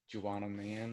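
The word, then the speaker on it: Juwanna Mann: That I always like forget how to pronounce the title, but Juanamon. Juana Man.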